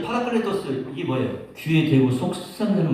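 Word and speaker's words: παράκλητος: 이 보혜사라고 하는 말이 파라클레토스라고 하는 말이에요. 우리 예서가 한번 따라해봐요. 파라클레토스. 네, 예서. 내가 발음이 좀 안 되나요?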